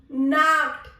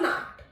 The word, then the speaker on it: Nacht: Gute Nacht. Nacht. K. This has a sound of K. Nacht. Gute Nacht.